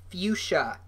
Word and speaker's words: fuchsia: no but here's fuchsia Abby said what that's how it's pronounced Noah fuchsia I had no idea